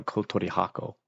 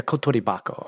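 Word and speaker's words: コトリバコ: I can't remember if it's Kotori Bako or Kotori Hako. Yeah, Kotori Bako. Okay. Sometimes the letter change. Well, I shouldn't say the letter. It's this pronunciation of the kanji. It sounds like a Kotori Bako.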